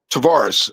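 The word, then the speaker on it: Tavares: Tvaris is spelled uh T A V A R E S. Tvaris.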